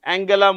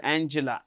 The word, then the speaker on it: Angela: minister of New Zealand Angela Merkel not Angela Angela Angela Merkel former chancellor of Germany